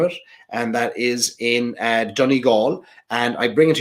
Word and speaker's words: Donegal: And of course, the traditional American way of pronouncing Donegal is Donegal. I went to Donegal. No, Donegal.